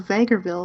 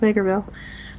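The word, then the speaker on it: Vegreville: uh and the placenta is in vagerville where the largest Ukrainian population of Alberta is not Bakerville by the way little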